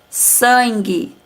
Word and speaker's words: sangue: Sangue, também não pronunciamos a vogal U.